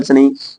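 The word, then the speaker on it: scene: चला अच्छा इसको मस्कल से नहीं मसल्स बोला जाएगा मसल्स मींस मांसपेशियां सीन सीन यहां पर क्या है सी साइलेंट है सीन मींस दृश्य ऑबसीन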